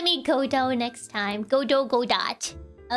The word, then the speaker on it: Godot: I like calling him Godot rather than Godo. Because when I think of Godo, I think of bread. So I would much rather call him Godot, even if that's not like technically how you say his name. I think Godot sounds more fun than Godo.